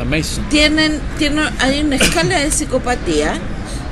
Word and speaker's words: Manson: Y ahí, en uno, los psicópatas, de hecho, asesinos yo digo Charles Manson, pero es Mason, se pronuncia Mason.